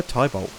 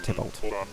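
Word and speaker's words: Tybalt: Tibol or it's pronounced Tibolt. And uh I just prefer Tybolt. Honestly, I know it's meant to be based off of the Romeo and Juliet character, but I've never actually uh read the play or seen the play.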